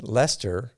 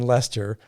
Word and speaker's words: Leicester: before it was in leicester i don't say it like chester anymore it was in leicester which was quite a